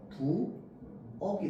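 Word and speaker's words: 부엌: 일단은 기본적으로 부어만 만약에 쓴다 라고 하면은 얘는 발음이 어떻게 됩니까? 아까 적었죠? 부억이 됩니다. 기억할 때 억이랑 똑같습니다. 맞죠?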